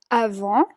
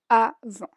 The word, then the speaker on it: avant: Comme avant significa como antes. Comme avant. La T al final no se pronuncia.